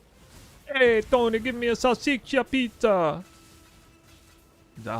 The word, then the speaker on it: salsiccia: Well, it's not Sicilian, like the place. It's not that. It's Salsiccia.